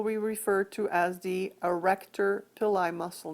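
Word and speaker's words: arrector pili: refer to as the erector pillai muscle notice that it's spelled with starting with the letter a and not an e so the erector pili muscle which is a smooth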